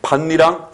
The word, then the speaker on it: 밭이랑: 다음에 반니랑 혼니불과 똑같은 현상이죠.